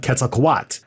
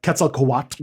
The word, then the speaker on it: Quetzalcoatl: dedicated to the god quetzalcoat um which might be if you know if you're doing anything wrong i've been pronouncing that wrong too it's those l's at the end yes so that's that's